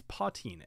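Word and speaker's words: poitín: thing called uh patine now it is called patine uh it's it's spelled in a way p i t i o n or something like it's it's spelled it kind of looks like potion kind of looks like poutine um but it's potin and the reason they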